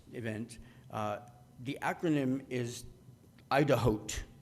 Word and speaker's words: IDAHOT: uh the acronym is idahot like the word Idaho with a T at the end and I thought that